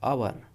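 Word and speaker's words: hour: अन इसे एच ओ यू आर को और पढ़ते हैं। आवर अनवर अन और र इसमें साइलेंट होता है। थोड़ा सा बोल सकते हैं।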